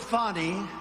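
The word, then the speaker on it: Fani: cut three Phil go he worked with fonnie even though it's spelled Fanny f a n i fny how about that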